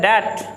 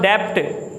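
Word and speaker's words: debt: उसके बाद इसको पढ़ा जाता है डेट। मैनी पीपल प्रोनाउंस डेप्ट, ये डेप्ट नहीं होता, ये डेट होता है, जो कर्जा वगैरह लेना, जो जिसको कहते हैं डेट, बी साइलेंट यहाँ पर डेट।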